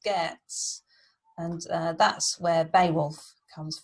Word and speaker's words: Geats: Now the Geats, where it says Geats, it's pronounced Geats, and that's where Beowulf comes from, the Geats.